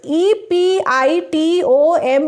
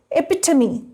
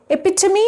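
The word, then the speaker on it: epitome: And E P I T O M E. Tar. Epitomy. Interviewer. Epitomy and not epitom.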